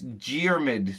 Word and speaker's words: Diarmid: Yeah, it's Diarmid. So you pronounce it with a G, but it's spelled with a D.